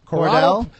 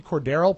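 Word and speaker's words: Cordarrelle: a rookie and i think it's corridelle or corottel cordell no it's not it's there's an extra syllable in there ponyboy it's a c-o-r-d-a-r-r-e-l-l-e so maybe cordaro patterson okay return to kick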